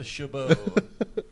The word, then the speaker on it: Chabot: stepen chabat Chabot Chabot Chabot shabo that's probably what it is uh actually it's pronounced a shabo the tea is silent had cell phones and